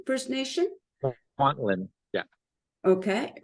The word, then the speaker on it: Kwantlen: He's a council member, and forgive me if I mispronounce the name. I think it's Kwantien First Nation? Kwantien, yeah.